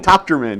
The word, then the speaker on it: Tochterman: This morning I have Sgt Tochterman. Did I say it right? Okay, almost. Okay, Tochterman. Tochterman, that's it. Tochterman.